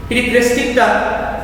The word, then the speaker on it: periphrastic: প্রিপ্রেস্টিকটা pronunciation প্রিপ্রেস্টিক এবং এর স্পেলিংটা তোমরা যদি দেখো PERIPHRASTIC প্রিপ্রেস্টিক।